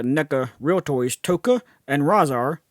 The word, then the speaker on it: Rahzar: In this video, I'm going to be talking about the NECA real toys Tokka and Rahzar, or Rahzar as it's sometimes pronounced, based on their appearance in Teenage Mutant Ninja Turtles 2, The Secret of the Ooze.